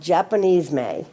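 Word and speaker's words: Japonisme: about Jamon Isme I just learned how to pronounce it I've been saying it wrong it's called Japanese May and it is the French term that refers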